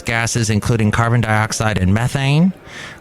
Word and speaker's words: methane: But last year saw record levels of major greenhouse gases, including carbon dioxide and methane, or as the British say, methane, released into the Earth's atmosphere, according to an international climate report called the State of the Climate Report.